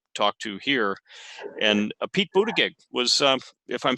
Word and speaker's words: Buttigieg: of the rallies, and I think he said Buttigieg was the right way to say it.